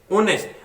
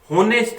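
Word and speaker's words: honest: शी इज एन ओनेस्ट, ओनेस्ट एच से शुरू हो रहा है बट प्रोनाउंस कैसे करते हैं? ओनेस्ट, होनेस्ट नहीं, ओनेस्ट। ओनेस्ट है तो ओ साउंड आ रही है, ओ हमारा है वोवल,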